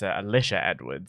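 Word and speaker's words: Alisha Edwards: company over the weekend just a quick correction on pronunciation it's Alicia Edwards said the reason I need to correct you on that pronunciation is because there is a drag star called Alysa Edwards and so every single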